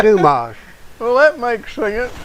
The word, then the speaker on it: Dumas: Musketeers he says uh Alexander Dumas I said Dumas I said I've been pronouncing it wrong I said how do you spell that he said d m s I said that's where I went wrong I've been putting two on the end of Dumas well that makes